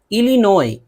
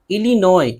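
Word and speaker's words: Illinois: इलिनोय, इलिनोय ये भी अमरीकी सूबा है। इन सब में देखिए एस है, एस है लेकिन एस नहीं पढ़ते हैं।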